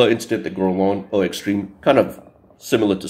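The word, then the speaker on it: Guerlain: the house of gon I know I used to pronounce it as garain but it's gon and here it is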